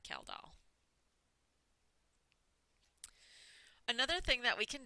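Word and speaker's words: Kjeldahl: And the measurement is the Kaldal reaction usually. This is how you say that, Kaldal.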